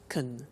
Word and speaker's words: can: can speak spanish now notice the pronunciation of can becomes 'can sheikhan she can speak spanish he can play tennis we can speak German all right so can becomes caen when we speak now the negative form